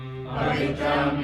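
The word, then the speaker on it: पवित्रम्: Pavitram idamuttamam. Pavitram idamuttamam. Pavitram idamuttamam. There's a tendency to pause after pavitram, but there's no pause there. It's a short syllable.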